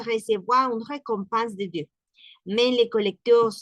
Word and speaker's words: récompense: en francés se dice récompense. Récompense. La R gutural, récompense con nasal, recompense. Todo lo demás compense es nasal, compense. Esa es pronunciación nasal.